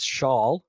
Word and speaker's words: Shaule: My last name is Shaule. It is a bit of a different one to pronounce.